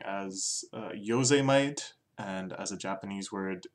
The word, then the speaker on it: Yosemite: We're first looking at today's is Yosemite by Travis Scott, which I also quite enjoyed pronouncing as Yosemite, and as a Japanese word, Yosemite.